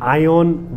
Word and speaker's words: AION: this impro to interview like how do you pronounce this Brand's name first of all so your brand say it's GAC ion y okay so GAC is the holding company